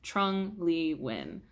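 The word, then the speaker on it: Trung Le Nguyen: found his audio name pronunciation, and it is pronounced Trung Le Win.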